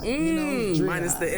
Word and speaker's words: Dreion: I've been calling this man Dreion forever, and he's like, it's Dreion. I tell everybody, like, dream on. You know, Dreion.